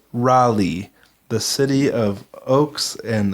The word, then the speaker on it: Raleigh: I have to say, I enjoyed Rosie's pronunciation of Raleigh. I think that's how it's pronounced. It's totally Raleigh.